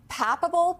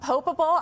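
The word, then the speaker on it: papabile: Can you explain the term papable? Popable. I'm not even sure I'm saying that right. Can you explain that to us? Papab. Papab. Oh, I was definitely not saying it right.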